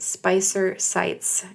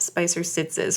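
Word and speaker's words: Spicer-Sites: Okay, so MD's name is pronounced MD Spicer Sites and not Spicer Sitzes, which is how we said it.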